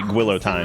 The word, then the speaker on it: guillotine: Anyway, guillotine is another French word that like we just decided to pronounce the French way and not capping off an all night guillotine.